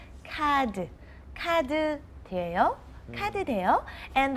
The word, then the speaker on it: 카드: Do you accept cards is actually what we're saying, but everyone understands that is credit cards. And of course, we don't pronounce it like card, we say 카드.